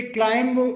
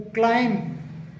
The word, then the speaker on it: climb: ऐसे ही अगला वर्ड है CLIMB, इसे क्लाइंब बोला जाता है, क्लाइंब, जबकि इसका सही जो प्रोनाउंसिएशन होता है वो क्लाइम, क्लाइम करके होता है।